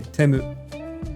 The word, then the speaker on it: Temu: We pronounce T-E as te. Te. Tachitsu te to. Te. So it'd be Temu in Japanese.